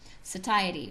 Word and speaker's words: satiety: super it also improves something called satiety or say Xie t whatever however you want to pronounce it both are correct that has to do